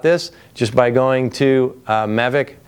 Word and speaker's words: Mavic: just by going to Mavic calm or Mavic if you want to say it correctly